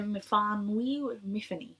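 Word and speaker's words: Myfanwy: Essentially, our main character, Miffany, she pronounces it Miffany, but Miffany, he wakes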